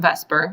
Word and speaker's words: VSEPR: too much work so we tend to say it like it's a word we pronounce it in Vesper which I realize it's